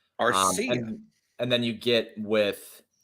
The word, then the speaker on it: Arcia: See, I pronounced his name correctly this time. Arcia.